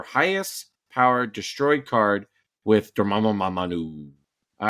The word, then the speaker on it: Dormammu: I've never pronounced this name right. It's moo. All right, Dormammu. It's a Moo.